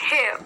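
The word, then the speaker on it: hair: हेयर, हेयर, हेयर, हेयर मैंने आपको कहा है जब आर की साउंड आर एंड में आए तो उसको साइलेंट कर दीजिए। हेयर, हेयर, हेयर, हेयर तो क्या बोलोगे, बाल।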